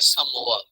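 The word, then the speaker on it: Samoa: तो हमने Oceania reason में कंट्री पढ़ी है समोआ। प्रोनाउंसिएशन इसकी समोआ, अब समोआ भी कह लेंगे तो काम चलेगा, इतना खास फर्क नहीं पड़ता।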